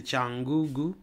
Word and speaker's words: Cyangugu: oui alerte alerte à tchangugu on écrit tiangugu mais on prononce c'est tangugu au Rwanda Paul kagam